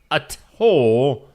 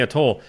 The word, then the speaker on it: atoll: a place called Bikini Atoll in the Pacific. They were get weren't very pacific over the Pacific. Place called Bikini. It's a t o l. How do you say that? I'd say a toll.